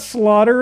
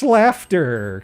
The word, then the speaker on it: Slaughter: No, it's not slaughter. It's pronounced slafter.